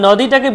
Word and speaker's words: নদী: নদী বলবো, নো ওকার আছে, নয় ওকার আছে, নেই তো, তাই জন্য আমরা কি বলবো নদী, পরিষ্কার।